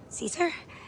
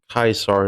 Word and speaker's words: Caesar: So, after addressing Caesar directly and getting called out for it, Lucy starts channeling her inner Redditor and starts yapping to them about the pronunciation of Kaisar instead of Caesar.